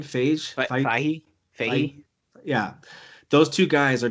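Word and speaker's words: Feige: Fahey.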